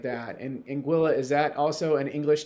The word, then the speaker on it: Anguilla: well so it's pronounced Anguilla it rhymes with vanilla Anga Anguilla okay yeah okay I